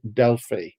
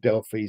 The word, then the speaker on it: Delphi: And being Europeans, we both pronounce it Delphi. Now, officially, our official uh, statement is you can pronounce it either way, whatever works for you.